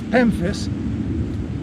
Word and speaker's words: Pemphis: without soil is pemphis this is pemphis rhymes with Memphis but it starts with a p and I want to